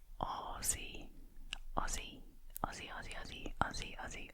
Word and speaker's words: Aussie: I know I've heard, especially Americans say Aussie, but it's Aussie, Aussie, Aussie, Aussie, Aussie, Aussie, Aussie, Aussie, Aussie, Aussie, Aussie, Aussie, and that's what I am.